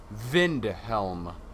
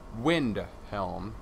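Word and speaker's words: Windhelm: are based off of the w is to act as a V so it is in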